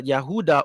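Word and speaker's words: Yehudah: like the descendants of the yehuda or judah oruda which is the true pronunciation of Judah.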